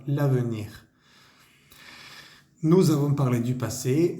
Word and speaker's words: l'avenir: Obviamente pues no se dice le avenir, sino l'avenir.